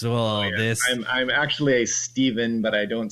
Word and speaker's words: Stephen: right side, because so many people, when they see Stephen, they pronounce it wrong. And I'm like, really? You've never heard of Stephen King? You say his name right. Yeah, you never heard of Neal Stephenson from Cryptonomicon? So, all right, well, we can agree to disagree, but agree that the V is, just phonetically easier.